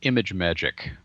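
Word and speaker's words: ImageMagick: It's a package called Image Magic. Magic is spelled MAGICK.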